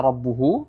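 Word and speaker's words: رَبُّهُ: pada kata rabbuhu ya Ini kata rabbuhu di sini ada wau kecil di sini ya wau kecil ini juga mad Ya Mad ti'i sama Mad ti'i rabbuhu di sini bisa kita lihat rbuhu Mad thii yang panjangnya wajib dua harakat tidak boleh kurang dan tidak boleh lebih ya perlu diperhatikan itu dan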